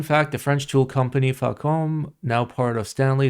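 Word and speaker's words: Facom: Fun fact, the French tool company Falcom, now part of Stanley, is pronounced with a hard C.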